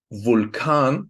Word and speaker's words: Vulkan: In international loan words, just like Vulkan, which means volcano, or lava, you usually pronounce it like a V, just like in English.